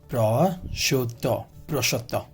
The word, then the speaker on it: prosciutto: Prosciutto. So the pronunciation of this is prosciutto, an Italian dried cured ham.